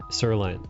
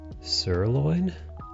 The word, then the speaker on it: sirloin: that sense Liz is eating steak and broccoli sirine sirine was on sale nice o I want some steak say that again how did you pronounce that steak no the other one the cut sirloin okay said weird the first time I'm sorry